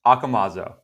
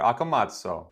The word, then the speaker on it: Accomazzo: hearing people attempt it it's akamazo if you want to give it a little bit of italian flair akamazo welcome to the